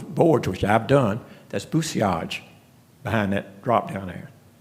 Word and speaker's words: bousillage: He said, let me share with you, the word's pronounced bousillage, not bousillage. There's a French word, and those L's aren't in there. He said, don't put the English pronunciation.